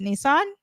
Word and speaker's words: Nisan: So they celebrate it on a lunar calendar, and the Hebrew calendar of the month is Nisan, like with one S, but it's pronounced Nisan.